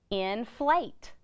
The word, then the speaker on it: inflate: we need to do because we heard a long a in inflate that's right we need to add an e at the end that silent e is going to make that bowel long so now we have